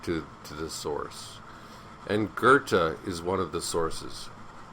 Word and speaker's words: Goethe: isn't an R but you're better off saying Gerta than goth the the best way